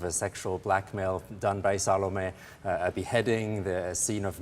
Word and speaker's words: Salome: the star of salome salome is that the correct pronunciation like with a z zalame all right anyway thank you